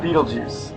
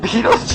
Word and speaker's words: Betelgeuse: There's a movie that is pronounced this way, and it's gonna blow your mind.